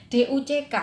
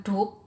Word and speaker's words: duck: Saya sebagai guru hanya tinggal menyampaikan DUCK itu bacanya duck loh ya, bukan duk, karena tadi ya pengaruh bahasa pertama ke bahasa kedua ya gitu.